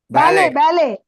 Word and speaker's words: ballet: இது ballet, பேலே dancer. ballet, T silent, ரொம்ப பாப்புலரான டான்ஸ் இது. பேலட். டீயை வந்து நம்ம உச்சரிக்க கூடாது.